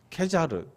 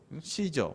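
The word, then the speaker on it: Caesar: 어 번역이 되어 있는데 캐 자르 씨저 뭐 이런 히비 라틴어 발음 하고 영어 바로 막 해가 지고 뭐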